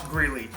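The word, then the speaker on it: Grelle: I just found out that his name is pronounced Greeley and not Grail, so I apologize for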